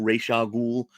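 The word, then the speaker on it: Ra's al Ghul: uh one bad day it's razagu reisha Ghul I like saying Roz but I know that's not the right way to say it but here's a 150.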